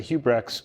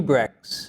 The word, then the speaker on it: Huibregtse: It's a Dutch name. We say Huibregtse, but that's certainly Huibregtse.